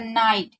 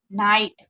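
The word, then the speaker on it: night: द नाइट, आप देखिए कहीं पर भी GHT साथ में होता है तो GS साइलेंट रहता है, तो इसलिए, और हमेशा याद रखिए GS से पहले अगर आई होता है तो आई को आई पढ़ते हैं, यानी कि ना आई टू नाइट।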